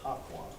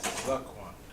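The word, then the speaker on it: Zaqan: All right, first one is Zaquan. What you got? First one is Zaquan. Second one What is it? is Zaquan. Zaquan. Oh, you said Haquan. No, it's like Zaquan.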